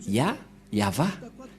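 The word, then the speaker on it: יהוה: Je vais vous apprendre directement, mais tout d'abord, on va bien regarder la photo, mais en lecture normale, on le lit Yahva.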